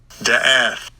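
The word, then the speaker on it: דעת: I think it's how you pronounce it. It's da'ath. Let's see. Strong's H 1847. Da'ath. Da'ath. There we go.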